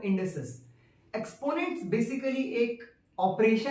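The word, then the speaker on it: indices: Exponents को इंडेसेस भी कहा जाता है, कई बार इसको लोग मिसप्रोनाउंस करते हैं इंडाइसिस, बट वो है इंडेसेस।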